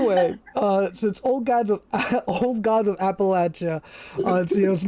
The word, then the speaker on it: Appalachia: So, again, you know, so it's Appalachia typically. Now there are regions that pronounce it Appalachia, and that's legit. But for this podcast and this game, it's Appalachia, and you can think about it as in I'm going to throw an Appalachia.